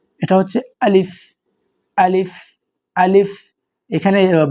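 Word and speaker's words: ألف: এটা হচ্ছে আলিফ। শব্দটা আলিফ টান নাই আলিফ অনেকে পড়ে থাকেন আলিফ এরকম না এটা হচ্ছে আলিফ আলিফ আলিফ এখানে বাংলা উচ্চারণ আরবিতে লেখা আছে এবার হামজা হামজা জবর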